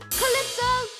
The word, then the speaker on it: Calypso: Calypso has a silent Y. Spell it with me. C A L Y P S and O. Calypso SOA is the newest type of music of them all.